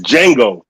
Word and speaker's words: Django: You said it's Jango. The D is silent.